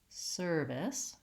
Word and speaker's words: service: Again, first syllable stress. I just have my same serve that I had before, and now vowel I and the S sound at the end. Again, I might try this, service, service. I want length on the sir, and short and light on the this, service.